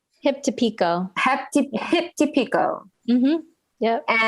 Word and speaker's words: Hip to Pico: Am I pronouncing it right? Hip to Pico.